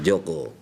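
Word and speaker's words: Djoko: Saat itu DJ. Dibacanya DJ. Saat itu dibacanya harus J ya, jadi Joko.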